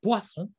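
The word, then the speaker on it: poisson: la vida watson pescado pescado se dice puesto y se pronuncie guau entonces está hoy sea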